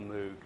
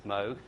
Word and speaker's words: Moog: pronounce it, so I always call it a Moog. But the correct pronunciation is Moog.